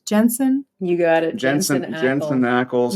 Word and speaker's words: Jensen: How do you pronounce his name? Jensen.